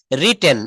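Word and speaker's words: written: লিখছি আই হ্যাভ রিটেন এটা কিন্তু নিলু পাপা একটু ভুল বলেছেন এটা হবে রিটেন উচ্চারণটা কি হবে রিটেন রিটেন রিটেন আই হ্যাব রিটেন আমি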